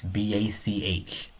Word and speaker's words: Bach: It's down below too, but it's spelled easy. So it's only 4 words. B-A-C-H.